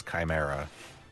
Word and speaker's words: chimera: It's chimera.